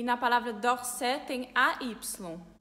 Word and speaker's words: d'Orsay: AY em francês é o mesmo que AI, é o som de E. E dependendo da região da França, esse som de AI, que é E, fica mais fechado, fica E.